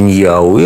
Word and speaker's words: Нахуи: Ну, произносится Ньяуи, а пишется Нахуи.